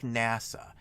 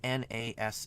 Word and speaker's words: NASA: an acronym or not if it's an acronym you will pronounce it just like NASA you don't say na sa it's NASA and acronym